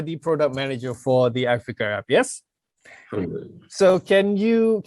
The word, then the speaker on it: i-Fikr: That was the name given to it, and in short, we just call it i-Fikr. Pronunciation is again i-Fikr.